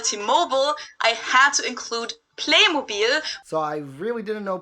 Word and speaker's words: Playmobil: half of this stuff english name for this playmobil but unlike how they did it with t-mobile they kept the german pronunciation of it for the american market too